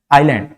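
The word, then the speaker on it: island: For example आइलैंड, जो कि मैंने आपको सबसे पहले वाली स्लाइड में बताया था, आइलैंड, आइलैंड में एस को प्रोनाउंस नहीं करते हैं।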